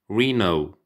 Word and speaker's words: rhino: بادئ بال Wild Animals يعني الحيوانات البرية: Elephant فيل، Hippo فرس النهر، Giraffe زرافة، Rhino طبعا ال H هنا silent ما بتتنطقش، Rhino اللي هو الخرتيت